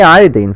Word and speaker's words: iodine: nascent vert variety of iodine and I say iodine for a reason because that's the correct chemical the chemists pronunciation of the term you know we don't